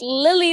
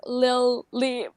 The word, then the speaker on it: Lilli: It's not like Lily as in the flower, but it's like Lily.